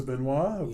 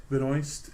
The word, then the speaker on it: Benoist: Is that how they pronounce it? Benoist. Is it because is she American? Yeah. Because over here I think she'd be Benoit. It would right? be Benoit, but over in the States it's Benoist.